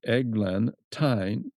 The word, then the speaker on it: eglantine: So I'm very fond of eglantine and I'll spell it. It's e g l a n egglantine t y n e which is the oldfashioned spelling.